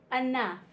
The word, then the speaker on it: enough: u g h o o u g h says F in enough enough we have rough